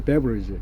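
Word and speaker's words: beverage: 그 음료수 같은 경우도 이제 발음이 베버리지거든요. 베버리지.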